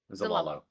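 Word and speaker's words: Zlalo: So we have arrived at the port town of I can't pronounce the name. Zalalo? Zalalo.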